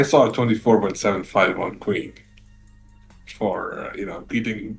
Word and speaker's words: faux: F A U X is said fo is a French borrowed word.